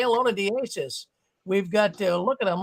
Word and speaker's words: Diassis: Can I give, is his name Diassis? Am I saying it right? Yeah. Hey, how's it going? Can I give my phone number to him? Absolutely. Yeah, that's fine. Diassis, my phone number is, I guess, I don't